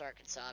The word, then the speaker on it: Arkansas: Old State of our Kansas even though it's pronounced Arkansas because stupid Americans have to pronounce things differently